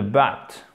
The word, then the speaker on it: butt: Et she's a pain in the butt. Ok, alors, ça se prononce exactement comme le mot but, qui signifie mais, ok?